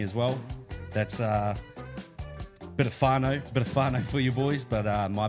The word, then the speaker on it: whānau: Not an F, Jace. It's a WH, So bro. what do we say? Kia ora whānau.